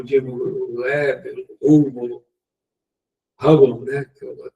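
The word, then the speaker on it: Hubble: que fica aí no espaço, né, o dibúvo, hub, né, que a pronúncia correta, mostra aquelas galáxias distante, né?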